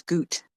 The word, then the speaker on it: gut: oh you know what I'm PR mispronouncing that word it's Goot not gut Goot on the other